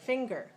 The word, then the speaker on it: finger: two syllables words like finger all right so finger has two syllables finger right which one is stronger the first syllable the second finger finger finger the first syllable is stressed right the first syllable